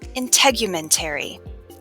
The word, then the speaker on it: integumentary: Okay, integumentary starts with the sound in, which rhymes with skin.